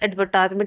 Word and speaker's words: advertisement: Uh for instance, advertisement is often stressed on the third syllable in British English. Advertise. Advertisement. Advertisement. But all the first in American English advertisement.